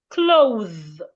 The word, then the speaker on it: clothe: Put your tongue in between your teeth and make vibration. The. We have it in words like them, smooth, bathe, clothe.